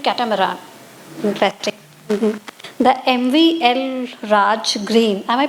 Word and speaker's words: El Raj: The MVL El Raj green. Am I pronouncing it right? Elraj.